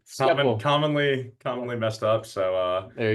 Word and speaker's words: Schepel: Say that, can I pronounce that correctly? It's Schepel. Schepel.